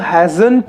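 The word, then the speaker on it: hasn't: हैज नॉट को जब हम हैजंट पढ़ते हैं तो हैजंट में हम टी साइलेंट रखेंगे, ठीक है।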